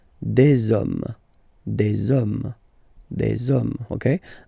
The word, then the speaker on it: des hommes: You don't pronounce it, so you get des hommes, des hommes, des hommes.